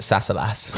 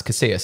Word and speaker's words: Casillas: Yeah, when I was younger, I used to pronounce it Sassalas. I don't know why. Oh, you did better than I did. Yeah, and it was like, nah, it's Casillas.